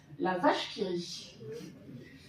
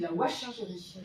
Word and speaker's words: La Vache qui rit: cette petite mention bizarre, la vache qui rit. Mais alors la plupart des gens, quand ils le voient, disent la wash qui rit. Non, le W peut se prononcer V comme dans un wagon.